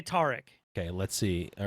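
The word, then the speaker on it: Taric: spotlight featuring tarik oh it is a hard a it is tarik it's terrick yeah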